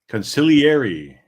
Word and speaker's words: consigliere: Consigliere.